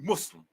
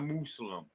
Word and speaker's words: Muslim: But I definitely, when I first heard that shit, I'd be like, yo, it's not pronounced Muslim, y'all. It's a Muslim.